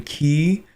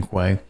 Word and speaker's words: quay: Apparently it's fishing key. Apparently I pronounced that incorrectly the entire last video. That's too bad. I'm still gonna call it a fishing quay.